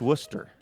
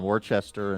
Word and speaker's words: Worcester: Uh, pronounced Worcester.